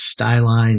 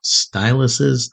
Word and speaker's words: styli: And yes, that is the correct way to say it. It is styli, not styluses.